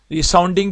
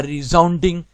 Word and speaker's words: resounding: ٹھیک ہے، ریساؤنڈنگ بھی لوگ لفظ بولتے ہیں، لیکن اصل میں تلفظ یہ ہے a resounding success.